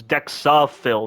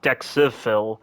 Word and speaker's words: Dexifil: Dexifil was administered, but I don't know why it's spelled like that. It's dexafil, not dexifil.